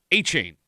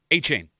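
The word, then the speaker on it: Etienne: Even though it is spelled E T I E N EN, it's pronounced Achain. A what? Achain.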